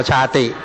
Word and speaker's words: ชาติ: 4 เป็น เหตุ ชาติ ภาษา บาลี ต้อง อ่าน ว่า ชาติ ชาติ เป็นา สตย ชาติ